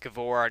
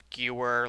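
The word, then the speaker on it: Gewehr: Uh, yes, it is pronounced Gavor, not Ger like some think.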